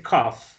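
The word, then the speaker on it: cough: Vamos a mirar ese que dice cuff, que es el verbo toser. Cuff, miren que es una GH, pero la pronunciación es una F, miren.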